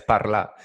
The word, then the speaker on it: parlar: So it's spelled parlar, but you drop the R. So it's just like French. You drop the R with all the verbs.